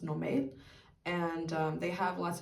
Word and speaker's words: Normal: store called I guess in English you would say Normal, but in Danish I believe it's pronounced Normal.